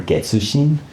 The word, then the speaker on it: Getsushin: I always call her Getsushin. That would be kind of the right way to say her name, but whenever I would say that, she would say Getchin. She'll always correct me.